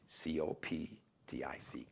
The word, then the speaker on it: Coptic: C-O-P-T-I-C. Coptic with a C. It's pronounced Coptic like K, but the C has the K sound.